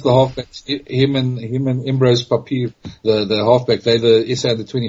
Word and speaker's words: Papier: Is it Papier? Papier, yeah. Well, Afrikaans is papier, so yeah, Papier.